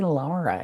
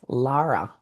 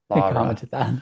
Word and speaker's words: Lara: Or Lara? Lara? Someone said, "Don't say Laura, it's Lara." Lara.